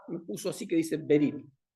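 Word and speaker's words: בְּרִית: Y hay una palabra hebrea que se dice o se escribe berit. La fonética me puso así que dice berit.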